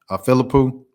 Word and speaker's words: Philippou: How you pronounce Alexa's last name? Is it Alexa? Excuse me, Philippou.